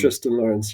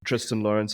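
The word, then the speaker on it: Thriston Lawrence: I've always called him Tristan Lawrence. I've always heard Terrence calling him Tristan Lawrence. Not quite sure which one. It's Tristan Lawrence, yeah. Tristan Lawrence, I thought so.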